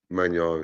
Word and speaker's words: Magnan: I feel like people are giving too much credit to Magnan on this one. Is that how you pronounce his last name? Magnan, yeah.